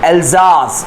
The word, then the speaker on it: Alsace: और ये जो आपको एल्सास दिख रहा है, ये सास नहीं है, जाज है, जेड आए, मतलब प्रोनाउंसिएशन में जेड आता है इसके.